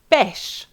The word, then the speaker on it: pêche: For peach, pêche, just like père, same pronunciation.